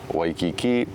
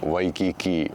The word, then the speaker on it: Waikiki: So there's actually three common pronunciations for the W. There's a V sound, a soft V, and then a W sound. So to get to this question with this word, you know, typically it's Waikiki, maybe like a soft or a V sound.